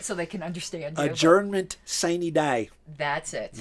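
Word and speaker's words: sine die: day say it so they can understand adjournment saney day that's it not sign d or not sun or we pronounce it right though they say we the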